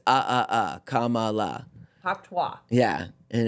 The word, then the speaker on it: Kamala: It's like it's Kamala.